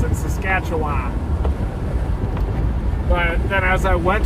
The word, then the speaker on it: Saskatchewan: but they taught us to say Appalachians and Saskatchewan. But then as I went to those places, I realized that it's actually Saskatchewan and Appalachians.